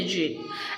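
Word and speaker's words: djinn: Okay, so it can also be pronounced as jinn, J-I-N, and it is variously spelled like genie, Jenny, Jinny, Ginny, Ginny. Okay, like you can pronounce it any way you like.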